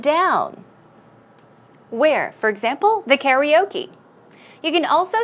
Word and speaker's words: karaoke: music so once again although we say kataoka in the Korean or the Korean way Americans will say karaoke we'll take a look